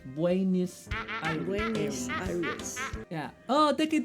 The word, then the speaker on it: Buenos Aires: What, have you been saying Buenos Aires wrong? We say Buenos Aires in Spanish and Buenos Aires in English. That's how you say it. Have you been saying airs? Coño. Okay.